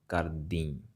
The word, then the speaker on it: kardi: All right, it's nasal sound at the end, kardi.